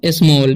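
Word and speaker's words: small: A double L जब भी रहता है तो ए का उच्चारण ओ हो जाता है। ठीक है, एल का लाते स्मॉल।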